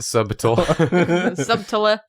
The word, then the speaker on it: subtle: The B is silent and subtle. Subl.